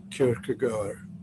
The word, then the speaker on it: Kierkegaard: Not Kierkegaard. really, because I kind of Yes, view that. sorry, it's actually pronounced Kierkegaard.